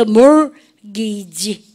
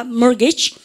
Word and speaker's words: mortgage: mortgage. 중간에 알발음 하면 미국 애들입니다. mortgage. 영국 애들은 mortgage 안 구해요. 중간에 알발음 안 하죠. mortgage 그래요. 근데 우리가 이랬든 저랬든 간에 T 발음이 납니까? 안 납니까? 나지 않습니다.